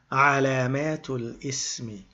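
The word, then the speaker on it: علامة الاسم: But because of a little technicality, we don't pronounce the lam in the al. We say alamatu lismi.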